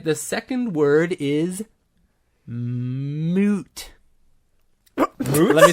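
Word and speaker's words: muut: The second word is moot. Let me spell it for you.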